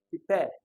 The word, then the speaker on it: prepare: Happen, prepare. Okay, prepare definitely has the stress on pair.